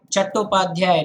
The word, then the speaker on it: Chattopadhyay: It's actually Chattopadhyay, not Chatterjee.